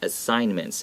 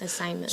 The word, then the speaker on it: assignments: assignments first of all let's pay attention that g is not pronounced okay so it's not assigned okay it's silent assignments assignments so when something is